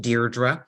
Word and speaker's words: Deirdre: I love my name my name is actually pronounced Deirdre so it's like you're writing a letter dear and then draw so my leadership story